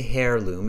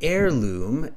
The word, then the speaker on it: heirloom: heirloom we don't say hair loom it's an air heirloom the h-e-i-r is pronounced as air like a-i-r heirloom okay so it's an h yes exactly so it's an heirloom and then it talks